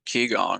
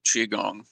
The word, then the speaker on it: qigong: Yeah, there's the like the qigong or the qigong, depending on how you want to pronounce it.